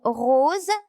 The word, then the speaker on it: rose: Dans le mot rose, S se prononce Z.